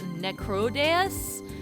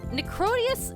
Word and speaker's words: Necrodeus: Yes, Necro is death and Deus is god. So like, I assume that it's actually pronounced Necrodeus. But Necrotius is so much easier to say, so we're just gonna say it like that.